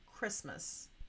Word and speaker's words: Christmas: my dream for Christmas now we don't really say Christmas sometimes when I'm writing I say that so I can remember that silent letter it should be Christmas but it is spelled with that silent t okay so that's not